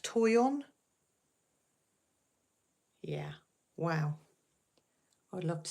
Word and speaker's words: Toyon: Californian plant with red berries wow is it's pronounced Toyon yeah wow I'd love to see a picture